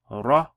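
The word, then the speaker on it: ر: miss this fatha here, it would be pronounced as a ra. Ra. Okay, so ra. Ra. There's a little roll to it, if you notice.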